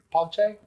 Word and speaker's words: pace: ce obviously is in Spanish it's pace which means peace and it means peace in Italian too, but it's pache pate. It's more of a ch sound than a, you know, the c sound.